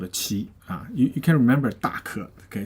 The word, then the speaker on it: 奇: Okay, it's called a 奇. You can remember 大可. Okay, so this is big, extreme, but people like them. Okay, and so it's called a 奇. All right. Now has another pronunciation as 鸡.